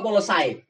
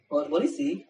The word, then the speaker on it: policy: Policy apa polosai? Polisi.